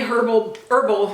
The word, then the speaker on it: herbal: Hemp's Milk and Honey Herbal Body Moisturizer. I'm not British, don't pronounce the H in herbal.